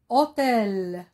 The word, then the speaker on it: hôtel: mot honte elle sait bien hôtel le motel commence par un h muet hôtel tiens un autre